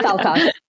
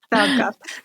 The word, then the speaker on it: Falkoff: Am I pronouncing Falkoff right? I like to pronounce it as close to a swear as possible because it's funny. But yeah, Falkoff. Falkoff.